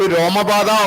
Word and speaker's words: Romapada: So Shanta's tale, where Dasharatha had a daughter who was given away to Romapada or Lomapada, both pronunciation comes, so that she will bring Rishyasringa and does the Putragameshti, and thus he will get sons.